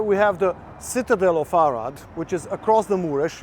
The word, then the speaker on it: Arad: In Hungarian it rhymes, Arad Marad, Arad stays.